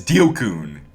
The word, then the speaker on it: Dio-kun: I have to remember to pronounce his name as Dio-kun. Dio-kun.